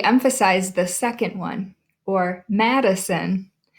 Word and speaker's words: Madison: the second one or Madison if you stop and think about it there are three syllables there Madison we don't say